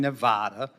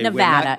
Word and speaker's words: Nevada: a little bit point in Nevada okay Nevada it's Nevada sir please say it correctly it's Nevada and um I share